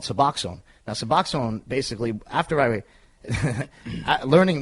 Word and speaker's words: Suboxone: Is how do you pronounce it? Suboxone.